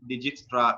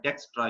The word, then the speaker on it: Dijkstra: हैं तो हम इसको Dijkstra बोल देते हैं, लेकिन Dijkstra भी इसको बोला जाता है। यानी J को साइलेंट किया गया है और I को भी DE इसको कंसीडर किया जाता है, IJ को।